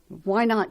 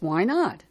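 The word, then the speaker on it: Wynot: decided to call themselves why not there is another located in Lauderdale County Mississippi as well as a tiny village in Cedar County Nebraska though the latter is spelled Wy n o t so there you have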